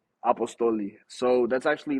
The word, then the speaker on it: Apostoli: did you come up with your name uh apostly am I saying it right apostoli so that's actually like just my name like